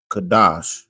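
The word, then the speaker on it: קָדוֹשׁ: Kadash. That's how you say it in the Hebrew.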